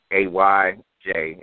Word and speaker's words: Ayana: the name of AJ a YJ is how it's pronounced and uh you can